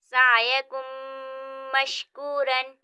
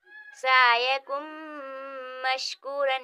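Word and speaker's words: سَعْيُكُم مَّشْكُورًا: یعنی اس حرف کو ہم گننے کے ساتھ ادا کریں گے اس طرح۔ سعیکم مشکورن، سعیکم مشکورن، یعنی آواز کو ناک میں گھمائیں گے، گننے کے ساتھ اس حرف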